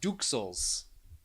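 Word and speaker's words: duxelles: with pate and dwells i'm going to say duels and wrapped in puff pastry i nailed it don't i know gravity is all right i just looked it up it's pronounced duke souls now we know at least i got pate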